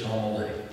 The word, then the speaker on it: Tamale: It's spelled exactly like tamale. It's just Tamale.